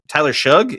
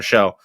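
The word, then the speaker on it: Shough: Saints pull Spencer Rattler and go with Tyler Shug, I think is how they say it. I just thought it was Tyler Show.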